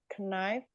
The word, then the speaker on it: knife: Knife. Knife. Karena kan I-nya dibaca A.